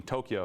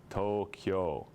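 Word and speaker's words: Tōkyō: the other thing is if you have a macaron a line over a vowel it gets two beats so instead of being Tokyo it's Toyo ideally but it gets Anglo sized a lot um or Osaka and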